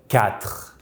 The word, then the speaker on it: quatre: We need to remember that in French the letter Q and U together make the sound K, like in English word castle, K. In French, we never pronounce the U that comes after a Q.